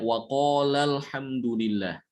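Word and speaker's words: الحمد لله: madnya jadi baca pendek Jadi dibacanya Alhamdulillah seakan-akan alihnya itu hilang yang memang dihilangkan ya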